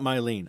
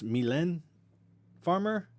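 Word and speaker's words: Mylène Farmer: listening from over there myleene or or wait no it's not mylean i know how to pronounce this now it's it's milan farmer i can't remember exactly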